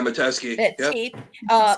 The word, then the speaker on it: Metesky: Besides Medetsky, is that how you say it? Yeah, Metesky.